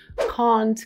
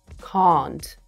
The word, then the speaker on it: can't: Если вы придерживаетесь британского варианта английского языка, пожалуйста, тяните звук а, can't. Can't complain. Если же вы придерживаетесь любого другого, не любого другого, американского, допустим, произношения, тогда говорите can't.